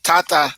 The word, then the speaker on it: tata: Tata Emeka, please. All right. Tata means father, sir, Sister or Mr. Louise, why do you have double A? Because it's important to pronounce the long vowel. So tata.